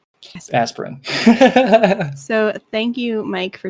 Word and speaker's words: Asperran: spell that yep um tales of a-s-p-e-r-r-a-n aspirin got it aspirin so thank you mike